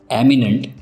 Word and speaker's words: eminent: एमिनेंट, इमिनेंट, दोनों words के pronunciation में थोड़ा सा डिफरेंस है।